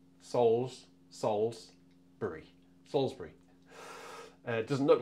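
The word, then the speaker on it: Salisbury: to Salsbury and and you Americans it is pronounced Salsbury SS Salsbury Salsbury doesn't look like it does it but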